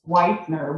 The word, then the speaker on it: Whitener: i'll first start by pronouncing my last name it's whitener with an e and not victory without